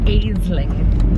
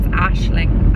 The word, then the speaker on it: Aisling: the people in the audition kept calling me Aisling and kept repeating Aisling. No matter how many times I correct them, I was like, it's Aisling, Aisling.